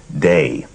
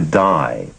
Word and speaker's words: Dai: and people around him pronounced his first name day and when he moved to California the pronunciation shifted to die and there were sometimes